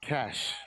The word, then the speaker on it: Cachet: It's actually pronounced Cash. Cash. Yes. I stand corrected.